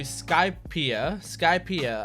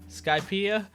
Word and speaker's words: Skypiea: So I think we're going into Skypiea. I think that's how you pronounce it. I think that's what one of my patrons said, is that it rhymes with I see ya, Skypiea.